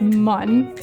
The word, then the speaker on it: Mun: I pronounce it mun. Mun. Because I remember that from the game, how they spelled it mun instead of moon.